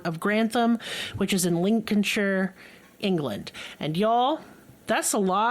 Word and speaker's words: Lincolnshire: This is Lincolnshire. Lincolnshire, like President Lincoln.